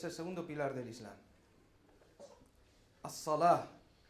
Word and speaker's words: As-Salah: As-Salah. Muchas veces lo pronunciamos y decimos el Salat. Si es así como lo conocemos, pues el Salat.